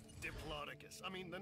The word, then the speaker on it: Diplodocus: that it's like is it gonna fit diplodocus it's fun right diplodocus i mean the name diplodocus it's fun to say i am convinced that that line only exists in order to get people to pronounce diplodocus correctly to make sure they don't say diplodocus